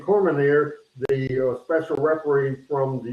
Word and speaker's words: Cormier: Daniel Cormier, I mispronounced the name, Cormier, the special referee from the UFC, did a great job refereeing.